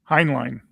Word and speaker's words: Heinlein: very loosely based on the on the uh on the Highland uh highly how do you pronounce his name? Heinline um book uh of of the same name.